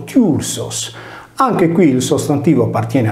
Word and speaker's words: Θύρσος: Il Tirso latino riprende tale quale il Tirso greco, scritto e pronunciato Tursos.